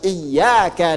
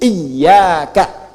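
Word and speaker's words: إياك: Ketujuh-tujuhnya ketika membaca iyaka na'budu maka bacaan iyanya ya bacaan iyanya bitasydidil ya min iyaka. Bacaannya pakai tasydid. Iyaka. Jadi bukan iyaka.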